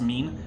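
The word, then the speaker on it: מין: Also, they always mispronounce mean. They always say min.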